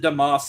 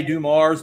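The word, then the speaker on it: Dumars: We we pronounce it Damas in Louisiana. I know they all say Dum Mars, but we say Damas from from Baylor University.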